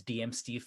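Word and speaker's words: deeemsteve: can find me at d-e-e-e-m steve that's dm steve phonetically amar the easiest way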